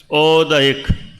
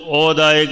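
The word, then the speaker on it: औदयिक: उच्चारण हमें ध्यान रखना है। क्या बोलना है? औदिक है ना? बहुत लोग औदायक बोल देते हैं।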